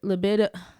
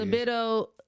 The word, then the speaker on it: libido: might notice that your liido I I never could say this word whatever is libido am I saying it right Alex liido libido liido libido there you go cuz it was in